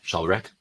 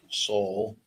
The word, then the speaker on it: Szalbirak: Jarek Szalbirak. Let me make sure. Szalbirak. Szalbirak. Can you spell that for us real quick?